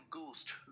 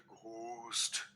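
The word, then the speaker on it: ghost: है स्पेलिंग ऐसी हुई पर इसमें एच की साउंड नहीं आती called गोस्ट don't call it घोस्ट कभी कभी हम बोलते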